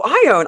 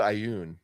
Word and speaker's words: Ioun: I always pronounce it Ioun, but maybe Ioun? Yeah, that's how I pronounce it. But maybe it's Ion.